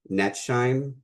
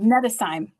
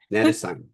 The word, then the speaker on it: Nettesheim: We're going to go with the German Nettesheim. Nettesheim. Okay. Nettesheim. So the H is silent. The H is silent. Yeah. There we so go. Think of it like a German phrase.